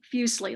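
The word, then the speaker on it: Fuseli: the beginning here um i pronounce the name fusely uh as i've been saying it fusely like muesli the you know the swiss uh cereal and he is swiss some people however say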